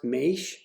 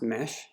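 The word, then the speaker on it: Maesh: this case it's four it looks like it's pronounced Maish but it's actually just pronounced mesh is the container list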